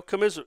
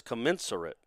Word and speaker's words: commensurate: Commiserate. Yeah. Ooh, it's commensurate. Commensurate? Corresponding in size or degree and proportion. Okay, so I didn't completely make up the word. I was just mispronouncing it.